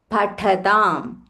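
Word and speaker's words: पठताम्: Prabhutasaram pathatam. Pathatam, tha mahaprana.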